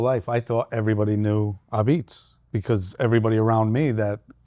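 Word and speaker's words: Apizza: So learning here in Boca and Delray and Palm Beach, when I put Ah-Beetz, A-P-I-Z-Z-A, everybody would say a pizza. Right. Which is kind of clever too, because Ah-Beetz, it's a pizza.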